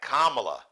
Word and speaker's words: Kamala: It's like Kamala, like a comma. It's Kamala Harris.